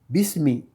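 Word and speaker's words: بسم: Comme on avait dit, c'est pas bisa, bisou ou bisi, c'est bis, parce que c'est le rond, qui est le 4e son.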